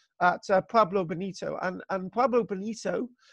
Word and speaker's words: Pueblo Bonito: problem bonito and and Pueblo Bonito which is usually the wrong pronunciation pablo bonito itself refers to the